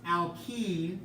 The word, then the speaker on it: alkene: Alkene is how you say the next one, and alkyne is how you say the third one.